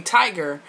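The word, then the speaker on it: Tygrr: also how Spanish people spell cologne, and it's pronounced cologne. But to avoid all of that, really, y'all can just call me Tiger.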